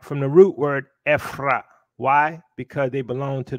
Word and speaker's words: Ephraim: Now, according to Strong's, the name for Ephraim is Ephraim, but it's pronounced Ephrah.